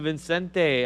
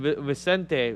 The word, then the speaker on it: Vicente: Yeah, Angel Vicente. I hope I'm saying that right. Well, there's no N. Vicente. Vicente. Vicente.